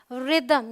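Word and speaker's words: rhythm: है ये है घोस्ट ये है रिदम यहां पर भी एच का कोई काम नहीं और कुछ ऐसे वर्ड्स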